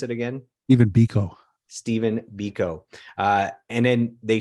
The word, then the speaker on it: Biko: of South African activist Steve, how do you pronounce it again? Even Biko.